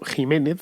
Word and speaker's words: Ximénez: no es al pedro ximénez es al pedro ximénez lo que pasa es que en el castellano de aquel entonces esa equis se pronunciaba como jota también también lo puede ser